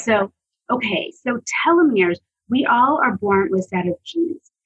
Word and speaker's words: telomeres: Telomeres.